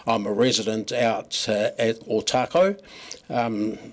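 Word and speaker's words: Otakou: a resident out at otaco um some locals still pronounce it OTA but we're trying to educate them look uh three and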